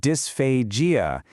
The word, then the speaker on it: dysphagia: So dysphasia and it's pronounced dysphasia is the official medical term for any kind of trouble with swallowing.